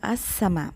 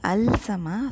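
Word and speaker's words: السماء: Shams your letter and we say as Sama we don't say al-sama so the lamb is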